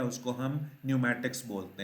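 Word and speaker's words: pneumatics: एक और वर्ड है न्यूमैटिक्स, पी साइलेंट होना चाहिए इसका, ये पहले नहीं मैंने पढ़ा, लेकिन जहन में यही आया कि नमूनिया जब हम कहते हैं तो उसका भी पी साइलेंट होता है।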